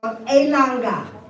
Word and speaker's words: Elanga: I'm going to teach you a Congolese song called Elanga. Say Elanga. Elanga. Elanga. Elanga. Now your quick study is 3 syllables, well, almost 3 syllables, but it's 3 words.